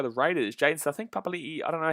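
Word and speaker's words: Papali'i: it's pronounced properly though we all used to think it was papali but um his name he wanted it to be pronounced papalii because apparently that's what it is so that's how i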